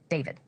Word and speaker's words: D4vd: Celeste Rivas Hernandez and her rich and famous and much older boyfriend, the singer known as David. While his stage name is spelled with a 4, his legal name is David Anthony Burke, plain and simple.